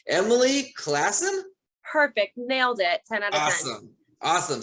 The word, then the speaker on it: Emily Classen: me right now let me see if i pronounce the last name correctly emily classen perfect nailed it awesome awesome so emily classen